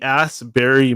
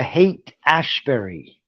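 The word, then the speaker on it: Haight-Ashbury: I'm pronouncing this right the ass Berry movement very Revival that's the hate Ashbury it's called hate Ashbury in San Francisco this is actually different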